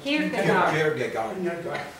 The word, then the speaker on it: Kierkegaard: Comment on prononce ça? Kierkegaard.